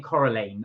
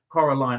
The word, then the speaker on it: Coraline: was we saying I I was saying coralan I think that was my fault sorry guys that was me but because I've not seen it I wasn't sure how to pronounce it Coraline I bet Salon Cy